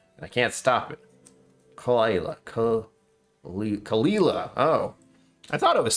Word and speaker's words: Caol Ila: Kalila.